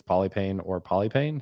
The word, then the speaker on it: Polypane: don't know so uh there is a Greek way you can pronounce it palipani okay yeah but I don't use that okay yeah that makes